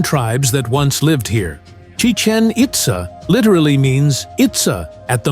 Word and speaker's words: Chichen Itza: in the 16th Century it is pronounced the same as the Mayan language the Mayans used hieroglyphic